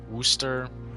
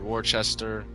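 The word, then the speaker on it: Worcester: well with war um Wooster or War Chester I've heard it pronounced both ways another one of my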